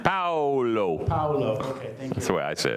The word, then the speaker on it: Paulo: Is it Pablo? Paulo. Pablo, thank you. But Pablo is okay. Paolo. I'm sorry, how do you say your name? Paolo.